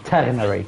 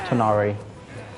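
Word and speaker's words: Tighnari: GH in Arabic is R, like French R. So it's not that difficult. It's just Ternari, not Tanari.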